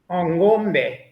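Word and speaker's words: ng'ombe: We're going to be buying ngomba. How's that pronunciation? Ngomba. Is that pretty good? Ngombe.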